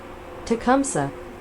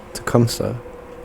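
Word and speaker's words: Tecumseh: Uh pronounce e a shon tcumsa. Tecumsa.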